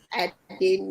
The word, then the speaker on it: Adeni: We have our guest already here with us, Adeni. Did I pronounce that correctly? Adeni. Perfect.